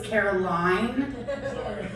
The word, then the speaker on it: Caroline: to be a though it's Caroline um and then it's it's funny that you